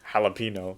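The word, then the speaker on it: jalapeño: is the enemy so it's the n with the curvy accent mark at the top i just said n jalapeno yeah right no oh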